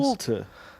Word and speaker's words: Wolter: It's like a Walter with a British accent. I suppose. Wolter.